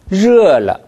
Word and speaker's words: 热: 热 할 때 혀끝이 입 천장에 닿았어요. 닿으면 热了 이런 발음이 납니다. 영어의 R 발음처럼 절대 입 천장에 혀끝이 닿아서는 안 됩니다.